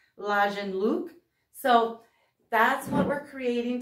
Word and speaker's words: Lagenlook: but if you don't, it's a German word for layered look, and I've heard it pronounced Lagenlook.